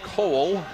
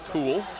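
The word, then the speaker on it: Koole: We have been informed that K-O-O-L-E is pronounced Cole, not cool.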